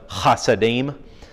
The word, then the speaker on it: Hasidim: pronunciation of this word, the first letter in Hebrew is the Hebrew letter Het, which is a very guttural H.